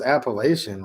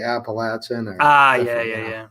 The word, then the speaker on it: Appalachian: Garage guy, I pronounce Appalachian wrong. I guess it's my Michigan accent. Appalachian. How do you tell them phonetically that's how I always pronounce it. Wow, the one from the South, they say Appalachian.